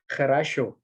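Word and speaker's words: хорошо: Jadi ini tuh dibacanya kharasho sebenarnya. Tapi kalau misalnya didengarnya kan orang Rusia ngomongnya cepet-cepet ya, jadi kayak kharasho gitu. Sebenarnya kharasho.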